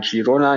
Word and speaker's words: Girona: eure Aussprache von Girona Girona liegt den Katalonien und auf Katalanisch heißt es nun mal Girona ihr macht das also komplett richtig und es heißt nicht